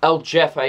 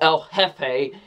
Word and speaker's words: El Jefe: i know i know the first time with l jeffy it was called el jefe i looked like a complete idiot when i